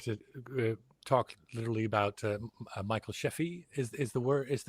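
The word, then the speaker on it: Scheffe: and we have to talk literally about Michael Sheffy is is the word is is the right way to pronounce that. Yeah, Michael Chafay.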